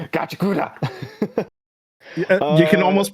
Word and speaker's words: Gachiakuta: I'm just gonna butcher it every Gachiakuta. time. Gachiakuta. You can uh, almost pronounce it if you say it super fast, but it'll sound really yeah, wrong.